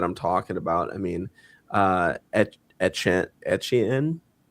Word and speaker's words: Etienne: I mean, Etienne. How do you pronounce it again? Etienne. Yeah. Etienne.